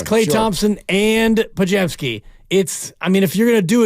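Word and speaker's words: Podziemski: He got closer, but he called him Pazemski. There is a Z in there, but you're not going to pronounce it.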